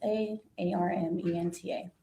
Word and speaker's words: Armenta: V A N E S A R M E N T A I'm pronouncing that correctly.